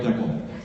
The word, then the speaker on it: decal: So there's a lot of terminology, and then also there's different pronunciations. Stickers on your car are called a decal. Not up here decal. they're called a decal.